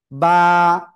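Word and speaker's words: ب: দুই ঠোটের ভিজা অংশ থেকে অক্ষরটা উচ্চারণ হবে। আর এক আলিফ টানব। টেনে পড়ব মাত্র এক আলিফ বা বা তো এক আলিফ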